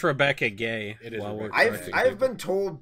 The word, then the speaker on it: Rebecca Guay: I believe it's pronounced Rebecca Gay. It is. I've been told both ways. I used to pronounce it Guay.